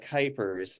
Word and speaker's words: Kuipers: Last but not least, we have Cupers, who's running for State House, Florida District 65. Yeah, correct. Thanks. Yeah, that's Kuipers is the Kuipers. correct pronunciation.